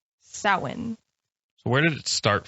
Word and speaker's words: Samhain: to spell that so we're just going to add a bunch of letters and let's add some d's and some h's somewhere in there and like so pronounce it the print pronunciation see now i'm even saying the pronunciation other than halloween it is samhain so where did it